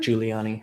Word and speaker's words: Giuliani: How do you pronounce his last name? Giuliani.